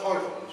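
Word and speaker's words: Heuvelmans: and it's Tak me years realized his names pronounced HOV H but Dr Bern hovens was a remarkable man who was AC in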